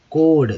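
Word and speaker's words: chord: कोड, देखिए CH जो क्या होता है पढ़ेंगे दोस्तों, क पढ़ेंगे, याद रखिएगा CH को क पढ़ेंगे, ORD, तो कोड, कोड मीन्स होता है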